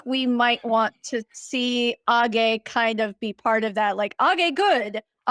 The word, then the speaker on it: age: Like I love Age. Is that how we pronounce it?